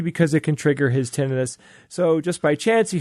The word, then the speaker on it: tinnitus: not here's the thing it's not tinnitus because it's not inflammation of anything right it's not like appendicitis or laryngitis it's tinnitus tinnitus everyone gets it